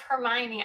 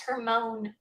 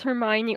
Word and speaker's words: Hermione: i read harry potter i thought of hermione i thought it was her moan i thought her name